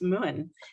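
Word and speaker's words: Mumhan: what is this one that's pronounced moon in Irish and this would be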